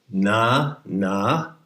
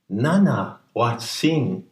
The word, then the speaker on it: Nanahuatzin: It has 3 syllables. 4. Nanahuatzin.